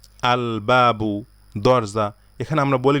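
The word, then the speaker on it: الباب: হুরুফুল কামারিয়া যেগুলো আছে এগুলোর পিছনের আলিফ লামটা উচ্চারণ করতে হয় যেমন দেখেন আল আবু বাবা আল বাবু দরজা এখানে আমরা বলি না আব্বাবু এখানে আলিফ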